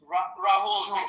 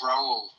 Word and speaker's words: Raul: name R a H Rahul you know that Brazilian Carina you know you just don't say the H okay it's Raul oh Raul okay what's your favorite beer.